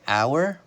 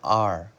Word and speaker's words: our: the word our or we can pronounce it like the letter R we can say our or our this is how we